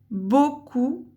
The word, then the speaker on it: beaucoup: marque du pluriel, écrivent beaucoup. Attention, ce mot outil est dur. Beaucoup. Le son O s'écrit d'une manière importante, qu'on voit souvent à la fin, et il y a une lettre muette.